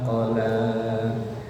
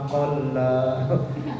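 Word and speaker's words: قَلَى: Qala qaf pendek, lamnya panjang. Itu yang di situ kan begitu ya. Qala qafnya pendek, lamnya panjang, artinya membenci. Ya. Kalau qalla lamnya ditasdid artinya sedikit. Kalau qala qafnya panjang, lamnya pendek, artinya berkata, ngomong. Itu biasanya kalau yang ngajinya kurang fasih, kadang bacanya ma wadda'aka rabbuka wa ma qalla.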